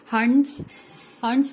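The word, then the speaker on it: Hund: और कुछ लोग इसको हुंड कहते हैं, हुंड नहीं कहते, इसको हंट्स कहते हैं, तो प्लीज उसको सही प्रोनाउंस कीजिएगा।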